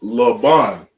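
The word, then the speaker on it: לבן: And because we pronounce it ban, we connect the ba and the na together. And that la we pronounce on its own.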